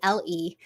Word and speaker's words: Keddle: So it's pronounced it's spelled Keddle, and it's basically bottle warmer, but it does not warm the bottle.